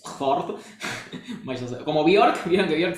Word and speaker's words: Fjord: De hecho, fiordo es una castellanización de una palabra impronunciable que con J, porque ellos tienen la J que es como una I, que es Fjord.